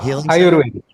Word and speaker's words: Ayurveda: Ah, Ayurveda.